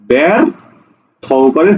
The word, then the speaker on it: ব্যর্থ: দেখো ব্যর্থ, থয় জফলা, পরের বর্ণে কিন্তু কোনো রস্বই বা দীর্ঘইকার নাই, অর্থাৎ এটা এ উচ্চারণ হবে। ব্যর থকারে থো, ব্যর্থ, হসন্ত দিবা।